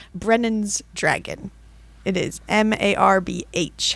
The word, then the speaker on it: Marbh: Marb. Why is the H there? The H is silent.